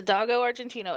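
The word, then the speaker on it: Dogo Argentino: It's a doggo What- argentino, and it's actually pronounced that doggo way. is a breed. It's a doggo argentino.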